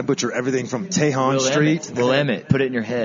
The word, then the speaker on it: Willamette: Is it not Willamette? Is that not how you say it? Willamette.